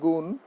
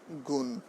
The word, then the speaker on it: গুণ: লিখিত রূপ আলাদা, কিন্তু উচ্চারণের সময় কোনো ভিন্নতা নেই। যেমন গুণ, গুণ, মন, মন, উচ্চারণ এক, কিন্তু বানান ভিন্ন।